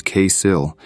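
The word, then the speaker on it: כסיל: The Hebrew word for fool here is kesil, which phonetically almost sounds like conceal.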